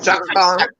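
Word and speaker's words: Chaka Khan: Yeah, Shaka Khan. Shaka Khan. It's Shaka Khan. spelled Shaka differently. Khan. it's spelled differently, but her name's Shaka Khan.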